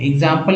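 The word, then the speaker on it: exam: एग्जाम्पल इसका है दोस्तों, जैसे एग्जाम, EX से एग्जाम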